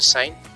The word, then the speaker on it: sine: cosine cos and gentan sine is pronounce the sign cosine pronounced as cosine tangent pronounced as tangent greek